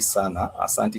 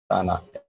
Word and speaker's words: sana: A lot, you would say sana. S-A, and it's two sana, A-N-A. So clip that. The word sana means a lot. A lot. You know, it's a 2-syllable word. It's 2-syllable only, but it means a lot.